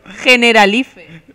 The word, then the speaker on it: Generalife: Em costa a mi dir l'altra pronunciació. Generalife.